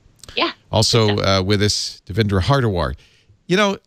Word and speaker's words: Hardawar: Also with us, Devindra Hardawar. You know, his name, it's just like it's spelled.